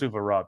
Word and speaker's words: Suvorov: I think it's pronounced Suvorov.